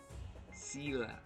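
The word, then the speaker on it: Zele: happy for br and zela Zila okay that's the official pronunciation in English ready to go actually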